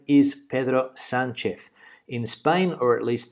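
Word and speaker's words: Pedro Sánchez: I say Pedro Sanchez because his name is Pedro Sanchez.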